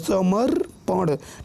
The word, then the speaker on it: समर्पण: ठीक है, उसी तरीके से देखिए समर्पण, समर्पण, अब देखिए पहले रेफ का उच्चारण आ रहा है फिर प हम बोल रहे हैं समर्पण।